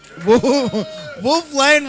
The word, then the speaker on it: Wolf Lane: Wolf Lane rhymes with cocaine.